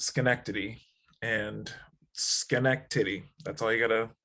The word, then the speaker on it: Schenectady: union college yeah in college what i can't pronounce the name of that the town it's okay it's schenectady and schenectady that's all you gotta that's all